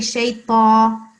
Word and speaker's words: الشيطان: So that was good, but you have to say shaitan. You see, I'm circling the ta. Yeah. It's not ta, it's ta, shaitan, like this.